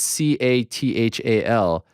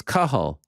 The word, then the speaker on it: Cathal: did you butcher it no it's because it's c-a-t-h-a-l uh bro i'm familiar with kahal pendrid all